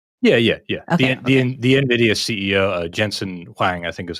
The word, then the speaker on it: Jensen Huang: Okay, The NVIDIA CEO, Jensen Huang, I think is how it's pronounced.